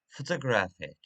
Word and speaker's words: photographic: Graph, photographer, I'm sorry, photographic, photograph, photographic. The syllables that are not stressed are weak or small or quiet.